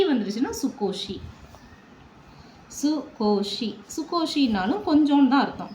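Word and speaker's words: 少し: எப்படின்னா, இந்த காஞ்சியை போட்டுக்கிட்டு இதோட ஷீயை போட்டுக்கணும், ஷீ இப்படி போட்டுக்கிட்டோம் அப்படின்னு சொன்னால் இதை எப்படி ப்ரொனவுன்ஸ் பண்ணணும்னா சு கோ ஷீ. இந்த நாய் வந்துருச்சுன்னா இது சுக்கு நாய், ஷீ வந்துருச்சுன்னா சுக்கோஷி, சுகோஷி.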